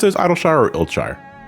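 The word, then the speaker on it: Idyllshire: Do you pronounce it as Idleshire or Iltshire? Idleshire.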